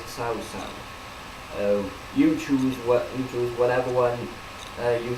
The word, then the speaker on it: Cao Cao: Well, they pronounce it in the game Cow Cow, but the actual Chinese thing is Sao Sao.